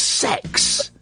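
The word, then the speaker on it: CeX: I'm being told by an ever growing number of people that um that keer exchange is pronounced as sex.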